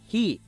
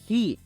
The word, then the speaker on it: he: nuestra siguiente palabra es he é he quiero que veas que puse con j pero el sonido es más exhalado de acuerdo muy bien